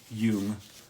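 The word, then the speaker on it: Jung: J U N G. Caro Yung. The J sounds like a Y.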